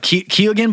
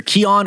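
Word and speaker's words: Keoghan: americans pronounce it uh key again but i believe that's actually wrong he's irish and the actual pronunciation is is either keon or kyan or something like that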